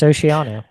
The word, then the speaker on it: Oceano: Oceano Oceano that's what I said yeah it's Oceano okay uh Sleeping With Sirens hey psych I